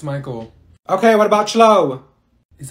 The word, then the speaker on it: Michael: Mikael. Ma'am, it's Michael.